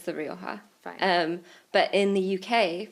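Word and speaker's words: Rioja: how you say it Sean well it is Roha if you are doing it in the way that the Spanish pronounced the word Roha which means red but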